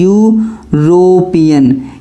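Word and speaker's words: European: तो इसमें देखो ई क्या है, इसमें आपकी जो ये वाली ई दी गई है ये आपकी साइलेंट है, इसलिए ई नहीं पढ़ेंगे इसमें, यू से लेंगे।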